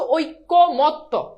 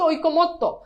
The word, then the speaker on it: ঐক্যমত্ত: এখন এটার উচ্চারণ অনেকে বলো ঐক্যমত, ভাই এটার উচ্চারণ কি ঐক্যমত? এটার উচ্চারণ হচ্ছে ঐক্যমত্ত, তাহলে ঐক্যমত্ত, ঐক্যমত্ত, শেষ উচ্চারণ।